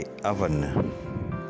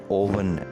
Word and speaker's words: oven: हमारा अगला लफ्ज़ है अवन। अवन जैसा कि हम जानते हैं पकाने के लिए इस्तेमाल होता है और इसको ओवन नहीं पढ़ना चाहिए, ये है अवन। Oven word is pronounced with an a sound, and it is not oven, it is oven.